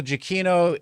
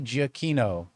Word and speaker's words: Giacchino: Giacchino. I think I did. But a lot of times people say Giacchino. Yeah, it shouldn't be Giacchino. It's hard C.